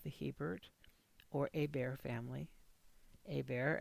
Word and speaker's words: Hebert: This is Hebert, March 17th, 2023, with some information about a portion of the Hebert or Hebert family. Hebert, as it should be pronounced, as it's a French name.